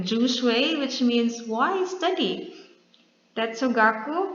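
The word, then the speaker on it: 哲学: Jishue for Chinese, pronounced something like jushui, which means wise study.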